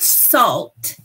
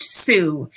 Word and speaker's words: Sault: So while it looks like it would be pronounced salt, it's actually pronounced Sue.